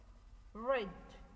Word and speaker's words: read: made the present me red it's pronounced bread but it's written or e a d the present is read the same writing way but the different pronunciation right the past of